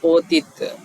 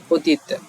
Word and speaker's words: অতীত: হলন্ত থাকলে সাধারণত উচ্চারণটি এমন হয় অতীত, মানে এখানে একটা ধাক্কা খায়, অতীত।